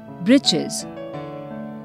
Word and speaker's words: breeches: Breeches. Breeches or short trousers. The writer here spells it for fun, to rhyme with the word witches.